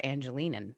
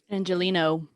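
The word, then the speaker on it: Angeleno: So and Josie appreciates you because you're an Angelinan. Is that how you say it? Angelino.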